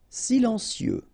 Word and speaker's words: silencieux: Silencieux, final X not pronounced, okay? This part here will be pronounced like cieux, okay? Then you get silencieux, silencieux.